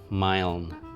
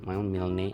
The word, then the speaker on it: Milne: ini depu tapi kan dia diadaptasi dari sebuah novel karya aa Mil atau bacanya Milne Aa Milne.